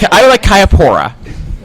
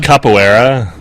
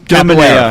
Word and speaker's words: capoeira: I would like Kayapora. I think it's pronounced capoeira.